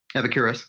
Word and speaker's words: Epicurus: So it says, as David Hume framed it, Epicurus, is that how you say it? Epicurus, yeah.